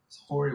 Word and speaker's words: Horry: Horry would have taken you too. It's Horry. It's a silent H.